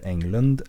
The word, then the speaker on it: Englund: The text is written by Peter Englund and Helena Myrstener. Well, I should probably say that as it's pronounced in Swedish. The text is written by Peter Englund and Helena Myrstener.